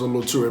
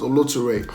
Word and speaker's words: Oloture: on the movie Oloture, which most of you pronounce as Oloture, but the real pronunciation is Oloture.